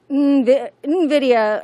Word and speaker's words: Nvidia: Nvidia, according to our production crew that corrected me.